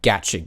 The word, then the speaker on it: gacha: To fill those in who aren't in the know-how, Genshin Impact is what's called a gacha game, and yes, that is apparently how you're supposed to pronounce it.